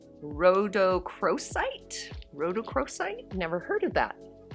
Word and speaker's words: rhodochrosite: pretty i did look this up and it's pronounced rhodochrosite and it's a stone that integrates physical and